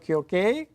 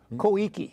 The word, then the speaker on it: Koike: Abe in the election, Yukio Kyoke? No, Koike. Koike, all right. I hope I have not heard the name pronounced, but I hope my Japanese pronunciation is correct.